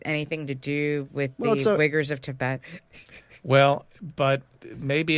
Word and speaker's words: Uyghurs: Yeah, but I mean, when you look at what China is doing in Tibet, and it's pronounced the Uyghurs, they're the Muslims who live in Western China.